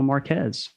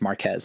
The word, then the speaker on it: Marquez: You're the second Marquez I've had on, and the first one I had on, I realized that it was pronounced Marquez and not Marquez.